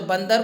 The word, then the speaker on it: बंदर: आधा न पढ़ेंगे और आधा न का उच्चारण हम करेंगे। जैसे बंदर, तो बंदर को हम क्या लिख सकते हैं? ब आधा न भी कर सकते हैं, तो ब आधा न द्वारा बंदर।